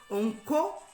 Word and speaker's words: Onko: Mais pour nous, peuple Téké, pour nous, héritiers de ce peuple, donc il faut vraiment retenir que Onko, c'est la prononciation du mot roi en langue Téké proprement dit.